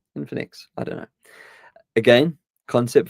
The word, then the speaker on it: Infinix: don't know this brand it's called infinix infin in infinix Infinity but without the T with an X infinex infinix I don't know again